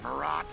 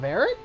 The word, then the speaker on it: Verrot: Man, her name is pronounced Verrot, but when you look at it, it's like Verret? Because you just want to say carrot. Verrot. Verrot. But you just look at it, it's like, carrot?